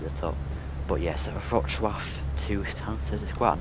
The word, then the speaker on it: Wrocław: But I may fly the other way, Stansted to Wrocław, because I want the controller to pronounce it wrong. Rocklaw, something like that. But it's actually Wrocław.